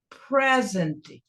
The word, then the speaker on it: present: O E seria mais forte. Present, present, porque isso aqui é um substantivo de 2 sílabas.